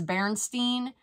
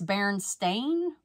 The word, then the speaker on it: Berenstain: purchased these Berenstein okay I always thought it was Berenstein but I think it's Baron stain I don't know I think I've always said it wrong Bears plush family toys